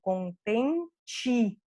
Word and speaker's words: contente: que está no final, contente. Porque é só o último E que se converte em I, o do meio não se converte.